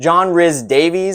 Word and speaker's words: John Rhys-Davies: John Rhys-Davies, I believe is how you say it, as Sallah.